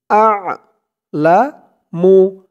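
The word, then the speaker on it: أَعْلَمُ: হামজা দিয়ে আইন ধরবে। আইনের উচ্চারণটা গলার ভিতর থেকে আসবে। আ'লামু, আ'লামু, আ'লামু।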